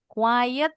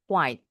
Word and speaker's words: quiet: Hati-hati dengan yang ini. Quiet ee artinya diam. Kalau diam, Miss Yura sering bilang e-nya di dalam. Kalau yang e-nya di dijual di luar, bacanya quite quite. Yang ini bacanya quite agak kalau yang ini quet. Nah, eh salah kurang y.